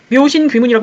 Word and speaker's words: 묘신귀문: 묘신 귀문이라고 읽습니다.